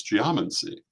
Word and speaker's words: geomancy: that word in English it's geomancy uh the same as geometry or biology or any number of other words that come from the Greek this is how they're